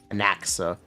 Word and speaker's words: Anaxa: It is Anaxia, right? It's not Anaxia. I believe the X is pronounced as an S, right? Am I wrong? Anaxa? Thank you. Anaxa.